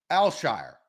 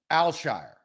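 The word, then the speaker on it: Al-Shaair: Aziz al-shire and it's it's more closer to one syllable than it is three syllables right because a lot of people were saying al-shire like they were trying to break it up smooth Al Shire azizelshire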